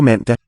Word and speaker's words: mandag: Du laver mad på mandag. Laver mad på mandag. Good old stop D there after the N, I think.